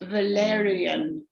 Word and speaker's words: Valariane: My name is usually pronounced Valariane.